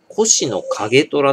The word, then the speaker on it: 越乃景虎: しかねぇこれ越乃景虎っていう越乃景虎って読むんですこれ景虎量に